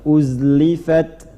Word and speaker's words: uzlifat: Enggak, jangan ada qalqalah, bukan huruf qalqalah. Uzlifat. Mengalir. Jadi jangan dipantulkan, bukan tidak. Uzlifat. Ya. Qalqalah cuma 5, qaf, ta, ba, jim, dal. Ya, di sini zai tidak masuk. Jadi mengalir bacanya, jaroyanil harf. Jadi mengalir. Mengalir tuh enggak, jangan dipantulkan, jangan ditahan.